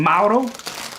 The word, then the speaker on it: Mauro: a hard time for saying mauro mauro that's how it's pronounced in italian shut your cake hole